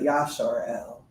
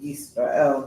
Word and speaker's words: Yisrael: Yisrael as far as instead of Yasharel or Yasharal. Yeah. Just the fact that the root words there lend to Yisrael, not Yasharel or Yasharal. Those are just made up pronunciations for Israel, Yisrael.